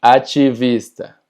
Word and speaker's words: ativista: La diferencia es que TI, no importa si está en medio o al final de la palabra, siempre se va a pronunciar chi.